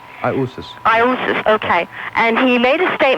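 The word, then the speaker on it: Ἰησοῦς: Because the Greek, they pronounce Iousis, Iisus. That's how they pronounce Jesus.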